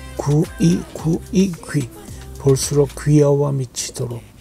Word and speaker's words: 귀: 귀 is hard to pronounce. 구이, 구이. Make it faster. 귀. 구이, 구이, 귀.